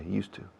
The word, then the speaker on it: used to: Y se juntan estas dos palabras de una forma tan dinámica que suena al monasterio de Yuste, cambiando la E al final a la U. Imaginad que cambiáramos por decreto ley el nombre de ese monasterio y es monasterio de Yustu. Pues así se pronuncia, used to.